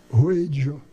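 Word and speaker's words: Wheydja: Ela disse, Ruedja. Eu disse, como é que se escreve?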